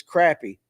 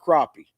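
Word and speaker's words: crappie: with it just like it's crappy not crappy I don't care what the Alabama guy says it's crazy BL you're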